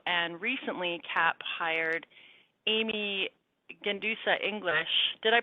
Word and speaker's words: Gendusa: The Gendusa is silent.